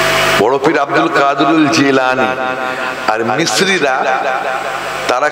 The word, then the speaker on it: জিলানি: মিস্ত্রিরা জিমের উচ্চারণটা গাইনের উচ্চারণ দিয়ে করে। বড় পীর আব্দুল কাদির জিলানি আর মিস্ত্রিরা তারা কি বলেন? গিলানি।